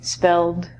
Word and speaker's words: spelled: In America, they would say spelled. This is a D sound.